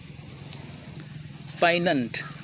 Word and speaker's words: poignant: पाइनेंट, G silent होता है, पाइनेंट, POIGNANT, पाइनेंट पढ़ेंगे, जिसका हिंदी अर्थ होता है मर्मस्पर्शी, मर्मस्पर्शी।